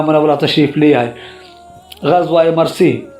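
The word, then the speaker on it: مریسیع: تشریف لے آئے۔ غزوہ مرسی، اس لفظ کا تلفظ یوں ہے، میم مضموم را مفتوح، دونوں یا ساکن، ان کے درمیان سین مکسور اور آخر میں عین محملہ۔ یہ بنو خزاع کے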